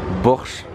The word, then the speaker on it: Bors: vous disait c'est ici borche gastrobar du coup vu que le S se prononce che et le SZ se prononce S c'est ici ils font